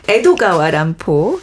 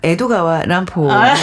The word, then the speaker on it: 에도가와 란포: 그 람포가 평생 존경했던 그 19세기 미국의 천재 작가이자 추리 소설의 시조새라고 불리는 에드거 앨런 포의 이름을 일본식 발음으로 바꿔서 필명을 만들었다고 해요. 에드거 앨런 포. 네네. 그렇네요. 에도가와 람포 비슷한.